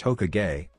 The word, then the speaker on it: Hokage: Translations and explanations Science Shot I'm the first Hokage, it's pronounced Hokage, of Konoha.